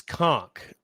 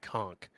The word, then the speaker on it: conch: supposed to say that it is conch yes they have a conversation about pronouncing it conch yes um instead of conch uh which is is what he originally says and then there's some